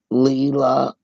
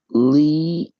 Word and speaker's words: Leigh: No, it's not Leela. I'm saying it wrong. Um, what is it? Lee. Oh yeah, it's Lee. Leigh. Anna is her middle name. Not Leanna. It's Lee, and her middle name is Anna.